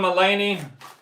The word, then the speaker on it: Mulaney: John Mulaney.